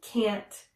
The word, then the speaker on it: can't: get enough of you and if you notice with that one I don't really pronounce the t's on can't and get when I'm saying it quickly I can't get enough of you you don't really hear the t's here is a similar phrase